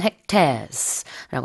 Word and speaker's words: hectares: 영어로는 hectares라고 하는데요. 이제 지금 보면은 2024년에는 소실됐던, 불탔던 면적이 1,500만 헥타르였는데 우리말과 영어가 이제 발음이 달라서 좀 헷갈리네요. Oh, you guys do use hectares in Korean. 근데 우리는 헥타르라고 발음이 달라요.